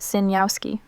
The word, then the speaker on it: Sejnowski: It's pronounced Sinyowski.